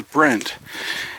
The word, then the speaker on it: Brent: Rhymes with Kent, but this is Brent.